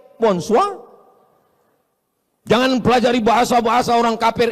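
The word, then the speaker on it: bonsoir: Tulisannya bon jowur. Bacanya bonjou. Bon soir, bonsoa.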